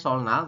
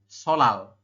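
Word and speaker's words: 설날: atas bawah yang ini tulisannya sol Nal tapi dibacanya tetap solal seperti itu ya kan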